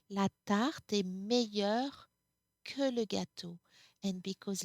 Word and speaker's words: meilleur: In any case, we do not pronounce it differently. It's always meilleur.